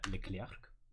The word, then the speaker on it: Leclerc: The first one would be the Leclerc. Yep. All right. Let's hear it. Leclerc! Yeah, totally fine. I mean, the French would probably be like, the K is silent at the end.